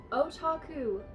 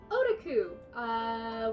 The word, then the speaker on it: otaku: Before I start this video, you might have noticed I pronounced otaku properly in this video. In earlier videos, I pronounced it like otaku, which is incorrect.